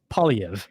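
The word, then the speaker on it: Poilievre: know what the heck that is so it's POV yeah so just like think like paully and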